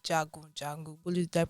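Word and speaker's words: Jagun Jagun: was a new movie released on Netflix called Jago jungle what is that pronounce it correct yes very correct the warrior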